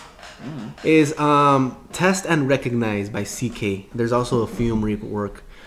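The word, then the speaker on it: Seekae: If anybody wants to spell it out for him, because it's S-E-E-K-A-E. Seek A.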